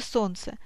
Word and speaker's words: солнце: В слове «солнце» 5 звуков, но 6 букв.